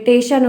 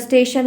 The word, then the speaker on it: स्टेशन: टेशन होता है, स्टेशन है, टेशन टेशन करते हैं, तो बहुत गलत उच्चारण करते हैं।